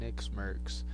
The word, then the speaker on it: NickMercs: Tim the Tatman and nickmercs. So, nickmercs. You can go tell nickmercs that how I say his name. Nickmercs. That sounds like Snickers.